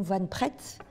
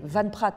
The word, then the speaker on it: Van Praet: par exemple le pont van pret moi je disais le pont van pret c'est Van Praet en fait mais voilà